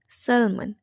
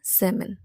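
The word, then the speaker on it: salmon: যায় যে সবসময় আমরা বলে থাকি এটাকে সালমান সেলমন আমি কিছুদিন আগেও এটাকে বলতাম সেলমন বাট ইটস not true এটাকে বলতে হবে সেমন সেমন মিনিং সেমন কিন্তু আমরা সবাইকে কি বলিমন্ড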